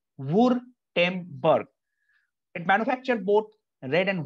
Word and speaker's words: Württemberg: It's not Gutenberg. It's called Württemberg. Once again, Württemberg.